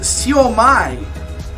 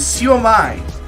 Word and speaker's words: siomai: However, it is pronounced siomai, according to Wikipedia. So I was pronouncing that incorrectly. It is siomai.